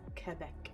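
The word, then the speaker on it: Québec: others to this day in french it's quebec referee for the letter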